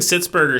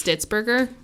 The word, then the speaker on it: Stitzberger: Okay, I think it's Stitzberger, and I think I misprinted. So you've been saying it wrong the whole time? I've been saying it wrong, I think. It's still a bad name, but it's a less bad name. Either I was saying it wrong, or I'm saying it wrong now.